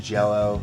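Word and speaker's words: Jellö: band green jello and yes it's pronounced jello there was legal stuff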